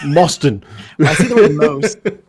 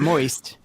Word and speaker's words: Mauston: americans look at you it's mauston not moist but no you're right it's one of the most commonly mispronounced uh ways that people mispronounce my last name is moisten and i'm like how do you get that like i mean if it was a bee you'd say boston you wouldn't say exactly exactly